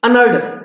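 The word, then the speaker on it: unearned: अभी कमाया नहीं, लेकिन उसकी सही फास्टली प्रोनाउंसिएशन होती थी अनअर्ड, ईडी लग जाता लास्ट में, समझ गए?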